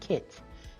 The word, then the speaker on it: CITT: The Catalog of Information Technology Tools, pronounced CITT, is a helpful directory